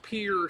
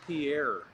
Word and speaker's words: Pierre: I pronounced Pierre, South Dakota. Everybody thought I would call it Pierre. Yeah, you got to be like a local, right? Pierre.